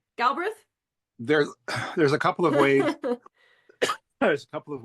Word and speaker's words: Galbraith: Galbraith? There There's a couple of ways There's a couple of ways that it gets pronounced. My family's always just completely phonetic. Galbraith.